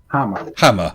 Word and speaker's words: Hamer: Is that how you say it, Hamer? Hammer, okay.